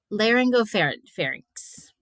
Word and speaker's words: laryngopharynx: This word is really hard to pronounce for me for some reason. Laryngopharynx.